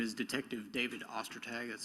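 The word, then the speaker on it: Ostertag: My name is Detective David Ostag. That's spelled O S T E R T A G.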